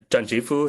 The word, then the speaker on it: Tranchi Phu: My name is Tranchi Phu is how you pronounce my name.